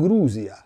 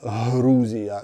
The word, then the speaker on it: Грузія: якщо це правда то вимовляти слово Грузія Чи як Як я наприклад звик грузини Грузія на український фрекативний манер буде неправильно тому ми мусимо перевчатися і казати на них Грузія та грузини От і те саме